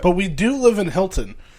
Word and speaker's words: Hilton: But we do live in Hilton, where I'm the rare case where I do pronounce the T. Most of us here go Hilton. Hilton, Hilton, Hilton. Hilton, H-I-L-T-O-N, that's pronounced H-I-L_N, Hilton.